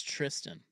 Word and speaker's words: Thurston: It's Tristan. Yeah, which is a little odd, but Yeah, the H is silent.